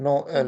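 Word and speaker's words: Noël: Then in that case what happens is with the help of threma, it breaks the pronunciation of the word into two half. Okay. First we have the example which is Noel, Noel.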